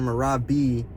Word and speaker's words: Merab: The emphasis on the E at the end, Merab B, it's how they pronounce Georgian people's names in Georgia.